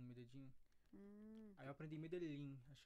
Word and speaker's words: Medellín: Ah, Lá eles sim, pronunciam sim. com som de tipo um J, né? Medellín. Medellín.